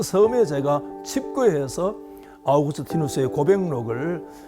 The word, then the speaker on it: 아우구스티누스: 성경을 제외한 한 인생책을 누가 저에게 묻는다면 저는 아우구스티누스의 고백록을 말씀을 드리고 싶습니다. 아우구스티노스 그러니까 좀 생소할 수가 있는데 우리가 흔히 잘 아시는 영어식 발음인 어그스틴이 바로 그 사람입니다.